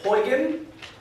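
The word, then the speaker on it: Huygens: into that later um this name is pronounced hyan so hoan's principle describes this phenomenon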